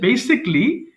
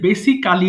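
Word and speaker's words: basically: পারি আর কুড হচ্ছে বেসিকলি এই যে বেসিকালি বলি এটার সঠিক উচ্চারণ হয় বেসিকলি বেসিকলি আচ্ছা তাহলে বেসিকলি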